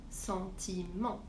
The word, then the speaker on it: sentiment: Par exemple, un sentiment, je prononce bien le ENT, c'est-à-dire en sentiment.